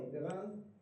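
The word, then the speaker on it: différance: Y él lo que le cambia es una letra, que si se pronunciasen, digamos, relativamente, no tendrían cambio en la manera que se pronuncia. Différence, acá, o différence, es lo mismo.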